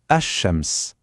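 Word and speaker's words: الشمس: En arabe, on dit ash-shams. Écoutez bien la prononciation, ash-shams.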